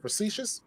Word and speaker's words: facetious: Is it facetious? There we Yes. go. There you go. You got it.